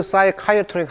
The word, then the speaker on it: psychiatric: 자, with the nearest psychiatric hospital. 자, psychiatr 이거 발음 보세요. K-I-R입니다.